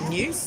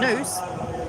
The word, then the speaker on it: noose: was a hangman's new news no it wasn't it was a noose uh to rhyme with moose like canada's national last